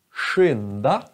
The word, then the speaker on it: skynda: Men sk, det blir samma ljud som till exempel sjö. Om ni lyssnar. Sjö eller fors, rs, blir också sh, fors. Eller dusch, dusch. Så, sk och mjuk vokal. Då blir det sh. Skidor, skynda, skynda, skära, sköta. Så de är, det är olika ljud.